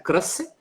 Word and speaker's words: Croce: Porque é inspirado no Benedetto Croce, mas os argentinos vão pronunciar Croce, que é um personagem que já estava em romances anteriores.